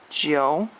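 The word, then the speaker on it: jiǔ: also a first tone nine is Joe again that IU sound yo sound Joe and it is a third tone and 10 is SH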